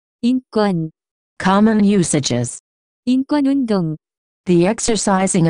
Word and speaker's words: 인권: The pronunciation of this word is closer to 인권.